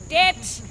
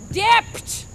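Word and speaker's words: debt: he should say doubt, det when he should pronounce dept, dept, not det.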